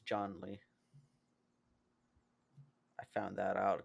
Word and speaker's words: Zhongli: we go with Not that for a Zhongling. gift? Not John Lee. It's John Lee. That's his name, John Lee. It's not Zhong Li. It's John Lee.